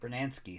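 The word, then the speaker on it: Brunansky: gary guyetti and tom brunanski so these are all twins bernansky bernansky so i said it right that's 33 out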